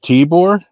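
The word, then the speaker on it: Tibor: a half brother wait tore t i b o r not like the boore you saw in the woods yeah okay I keep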